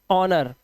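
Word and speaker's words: honour: जैसे यहां पे देखो ओ यू के बाद आर तो कलर आ का उच्चारण हार्बर ठीक है ऑनर इसी तरह से फेमस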